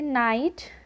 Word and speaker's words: knight: इसलिए यहाँ हम के को साइलेंट रखते हैं और इसे नाइट KNOW नो और KNIFE नाइफ पढ़ते हैं।